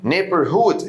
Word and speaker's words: neighborhood: neighborhood، اوعى تنطق الجي اتش هنا.